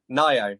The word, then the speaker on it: Ngaio: Is it Ngaio Marsh? Is that how you pronounce it? How do you pronounce it? Ngaio, yeah.